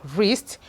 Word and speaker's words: wrist: So we have wrist. We equally have wrinkles, wrinkle. So you can see that the W's here were actually not pronounced. They were kind of silent in this word.